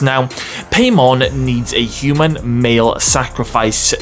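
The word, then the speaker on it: Paimon: are worshiping a demon called paymon I think is pronounced now paymon needs a human male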